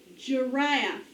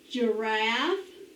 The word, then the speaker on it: giraffe: can say all right this is the j sound of g now what is this guys it's a giraffe listen to it giraffe my turn giraffe soft g j say it with me